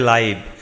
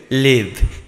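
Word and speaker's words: live: ঢাকা বাস করি দেখো যখন আমরা জীবন্ত বলব তখন তার উচ্চারণ হবে লাইভ আর যখন আমরা বাস করা বলবো তখন তার উচ্চারণ হবে লিভ একই বানান কিন্তু উচ্চারণ কিন্তু আলাদা যখন আমরা লাইভ বলবো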